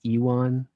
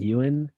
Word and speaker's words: Ewan: yes that's true yeah i used to say ewon for like years so it feels wrong saying ewan so i'm sorry to any